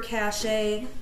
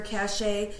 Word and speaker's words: cache: that I don't know how to pronounce cache because now I do and when Brian ended up seeing the messages before clear your cach a and after clear your cache he realized oh she